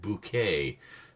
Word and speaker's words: Bucket: Bucket High Bucket pronounced bouquet.